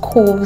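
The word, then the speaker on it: Qoves: love love love the channel called cool Studio it's spelled q-o-v-e-s studio and they're here on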